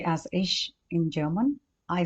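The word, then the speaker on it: ich: about subject singular for I we say as ish in German i c h ish for you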